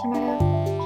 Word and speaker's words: Chimecho: her with a shco so you say it shco yeah pretty sure that's